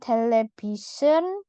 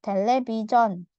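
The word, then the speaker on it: 텔레비전: opta lanjut ada televison bacanya bukan television enggak pakai e tapi John pakai Jo Jo ya telebon telebon atau orang Korea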